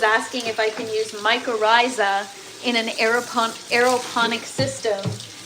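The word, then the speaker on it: mycorrhiza: Um, I actually had to check a couple of different places just to make sure I was pronouncing it correctly because it looks like microiza, but it's really microisa.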